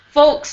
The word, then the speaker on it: folks: So his new folks, his new parents. And I say the L just a little bit. Because I do pronounce the L in this one.